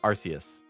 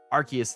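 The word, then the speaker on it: Arceus: that's another one where for my entire life as a kid and teenager I said arus and then it wasn't until legends archus that I started to hear people say archus instead and I was like wait is it archus it's not arus and now I use them interchangeably you people know what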